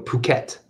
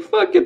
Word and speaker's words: Phuket: He called it in his video Phuket. That's how you really pronounce it, apparently. Phuket. So, but it looks like fuck it to me.